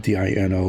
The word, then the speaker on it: Dino: of course it was Dino it's spelled d-i-n-o which should be Dyno but it was pronounced Dino because I guess they